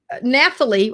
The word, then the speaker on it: Nathalie: And Nathalie, I call her Nathalie. It's really Natalie because I know the H is silent, but I can't help myself but put that TH in there.